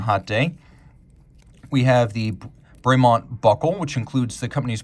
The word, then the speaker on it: Bremont: would have pronounced it bremont but it is officially bremont because this is an English watch brand and they speak The King's English you can see the